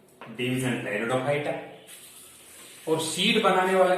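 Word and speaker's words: Pteridophyta: टेरिडोफाइटा, P silent रहेगा, टेरिडोफाइटा है। टेरिडोफाइटा, xylem and phloem present, well differentiated body.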